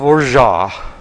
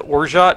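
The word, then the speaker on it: orgeat: need a oun of orja o r g e a t but the t is generally not supposed to be pronounced although there are so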